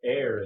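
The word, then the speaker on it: heir: to air is human it's a pun because air is spelled h e i r yep so since we're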